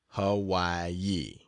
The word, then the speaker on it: Hawaii: again, and thence to the island of Hawaii, pronounced Hawaii, to see the greatest active volcano in the